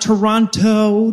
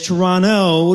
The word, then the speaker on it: Toronto: I have it on good authority that it's not Toronto to rhyme with pronto. It is Toronto to rhyme with guano.